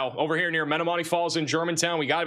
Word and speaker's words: Menomonee Falls: be a big tornado, we think, near uh Menomonee Falls. I somehow got the pronunciation right that time.